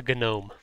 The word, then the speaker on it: gnome: mrs tahoe she's a gnome a good why do you pronounce the g i don't she does her